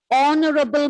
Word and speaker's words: honorable: And even the word honorable man. Okay, so even in this word, H is silent.